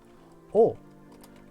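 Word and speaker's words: を: here the W it's it looks like the letter wo but it's just pronounced o I ate a sandwich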